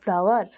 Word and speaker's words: flour: अच्छा एटा कौन लिखा है FLOUR फ्लावर एठी अच्छा फ्लावर जदि मु कहूची फ्लावर कहले